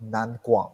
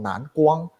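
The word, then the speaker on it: Nanguang: are our company is by the name of nan guang okay so in chinese it's called nan guang right so some of you might pronounce it that's nan guang okay so we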